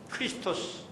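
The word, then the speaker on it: Χριστός: 구주시 예수님은 우리의 그리스도가 되셨다 그리스도 그리스도이 헬라식 발음해요 크리스토스 예 미국 사람들이 혀가 꼬였 때문에 이걸 발음할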